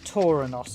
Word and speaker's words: Tauronos: on the xbox one or tauranos i should say get my pronunciations correct okay another one of